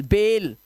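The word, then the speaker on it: bail: देखो, बाइल नहीं पढ़ेंगे से बाइल, बेल, फाइल नहीं पढ़ेंगे, फेल, हाइल नहीं पढ़ेंगे, हेल, और माइल नहीं पढ़ते, इसे बोलते ईमेल जैसा मेल, ईमेल, मेल।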